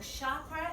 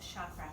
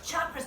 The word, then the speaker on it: chakra: actually okay and then ch is never an S sound we already have 3 s's so chakra is not the way you pronounce chakra it's like cha cha cha ok chakras chakras chakras chakras okay